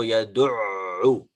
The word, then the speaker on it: يدع: We make sure that the sound of the ayn is different to hamza.